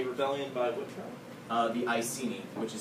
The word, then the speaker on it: Iceni: The Iceni, which is spelled I-C-E-N-I, which is a Celtic tribe.